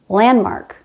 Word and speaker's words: landmark: This happens in words like sandpaper, soundproof, landmark, windmill. We drop the D because it's between two other consonants.